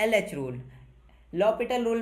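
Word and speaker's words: L'Hôpital: आप इसको लॉपिटल rule क्यों बोल रहे हो? इसमें एच साइलेंट होता है। इसलिए इसको लॉपिटल रूल बोला जाता है।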